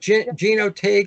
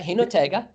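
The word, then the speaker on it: Jinotega: I like Gino Tig. I'm sure I'm pronouncing it wrong. Yeah, Hinotega.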